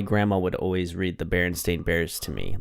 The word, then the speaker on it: Berenstain: that way but I remember her saying Berenstain and saying it was pronounced stain even though it was